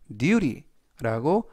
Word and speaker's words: duty: 이때 발음에서 t는 부드럽게 t보다는 르 또는 드, 그래서 duty라고 발음하시면 좋겠습니다.